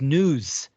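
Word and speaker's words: nous: u s but it's it's pronunciate as news almost sounds like news right y or what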